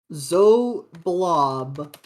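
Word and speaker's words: Xoblob: please and roll 20 it is literally pronounced with this x being pronounced with a z z blob okay I just yeah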